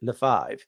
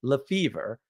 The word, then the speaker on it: Lefevre: We don't pronounce it Lefebvre, right? Or Lefebvre. We pronounce it Lefevre because that's the American way, which of course it was.